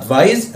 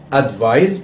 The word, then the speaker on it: advise: بالنسبة لي البرونسيشن بتاع كلمة advise اللي هي الverb اللي هنتكلم عنه دلوقتي، خلي بالك الاس هنا، الحرف اس، the letter s is pronounced z z, it's not s.